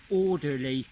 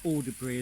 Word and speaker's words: Alderley: I ended the film just as I was about to plunge down from Tresham to Alderley, not Alderbury as I pronounced it, and after that I got really cold.